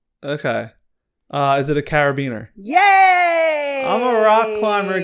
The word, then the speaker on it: carabiner: carabiner is or carabiner it's carabiner carabiner i want to call it a carabiner banana well i have four of them carabiner um because it's spelled c-a-r-b-i-n-e-r you want to say carabiner caravan but it's originally a german word carabina carabiner yeah so characters